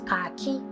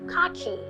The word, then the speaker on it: khaki: Commonly mispronounced as khaki, like khaki no be leather, but it's actually khaki.